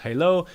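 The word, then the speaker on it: HaLow: So Wi-Fi Halo as mentioned pronounced Halo.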